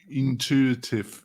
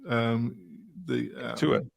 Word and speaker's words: Intuit: But as soon as they sold to, how do you pronounce it? Intuitive. Intuit.